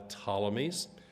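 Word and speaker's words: Ptolemies: Palestine is controlled by the tmes like pneumonia has a silent p on it then the tmes is p t o l m y and the tommies are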